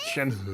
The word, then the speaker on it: Shenhe: It's pronounced Shenhe.